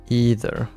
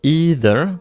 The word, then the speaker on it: either: It starts with a long E sound rhyming with C, so either.